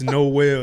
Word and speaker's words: Nowell: People do be like messing up the name. Like Noel, Noel. It's Noel. If you look at it, if it's spelled Noel.